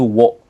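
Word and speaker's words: を: Walaupun disebut wo, tapi pelafalannya itu o minasang ya. Pelafalannya itu o minasang. Walaupun ada juga orang Jepang zaman dulu gitu ya, itu melafalkan itu wo.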